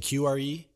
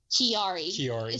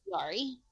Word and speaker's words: Chiari: When you say, I think you're saying QRE? Chiari. So it's spelled like Chiari. Yeah. It's okay. C-I-A-R-I. Okay. But it's Chiari.